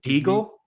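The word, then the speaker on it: Déagol: Regal, it rhymes with Smeagol. It's something like that. Yeah, and it's Is it Deagle?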